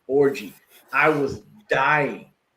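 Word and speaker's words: Orji: last name is o r ji and it's pronounced orgy I was dying like how in the hell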